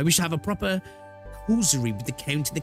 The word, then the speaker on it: causerie: I wish to have a proper causerie with the Count and the Cleric.